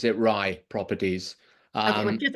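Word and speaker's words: Righ: re everybody pronounces it Ry properties um just it's a Celtic word and normally or like an in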